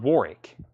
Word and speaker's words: Warwick: anybody wants in still dropping that second war w and Warwick Dion Warwick Dionne Warwick Warwick well that's tough to say Warwick Warwick one syllable um anybody else anybody